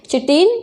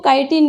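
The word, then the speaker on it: chitin: Present with चिटिन, या इसको काइटिन भी बोलते हैं। दोनों ही प्रोनाउंसिएशन अपन कर सकते हैं जो अपने को इजी लगता हो।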